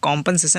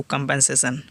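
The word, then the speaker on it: compensation: शुद्ध इसका pronunciation कॉम्पनसेशन, लेकिन कॉम्पनसेशन हम शॉर्टकट में बोलते भी हैं। एग्जाम्पल है they have a valid claim to कंपनसेशन।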